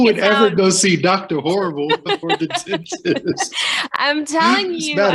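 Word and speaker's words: Horbal: job was working for a dentist uh Dr Horrible you you'd like this that's his name yeah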